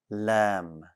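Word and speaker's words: لام: tongue stays flat also the letter lamb does not have any air no air for lamb it'll be difficult to add air to lamb anyways common mistakes this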